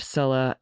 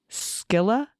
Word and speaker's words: Scylla: All right, several corrections on the pronunciation of Scylla and Charybdis.